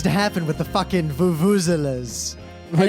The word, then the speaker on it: vuvuzela: So I realized what needs to happen with the fucking vuvuzelas. And it's it's vuvuzela at the end. It's a schwa, not like an or an ah.